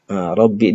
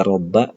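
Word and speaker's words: رَبِّ: Rabbi di sini, kita membacanya rabbi, bukan rabba , dan bukan robbu. Mengapa demikian? Karena ada li, maka ada guci harfu. Di mana fungsi dari wadah harfu adalah untuk membuatnya majrur. Salah satu tanda menjadi majrur adalah memiliki kasra. Itulah mengapa kita membacanya lirabbi.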